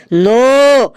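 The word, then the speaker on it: know: কোন ই হবে স্যার ওটা লেখা আছে কে এন ও ডব্লিউ নো এখানে কে এর উচ্চারণটা মুখে হবে না একদম ঠিক বলেছি শাবলু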